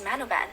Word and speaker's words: Manobal: Everyone knows her last name is Manoban, but did you know the correct spelling of her name is Manobal? If I actually said her name how it's spelled, then her name would actually be Lalisa Manobal.